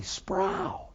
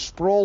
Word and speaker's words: Sproul: My name is Sproul that rhymes with soul.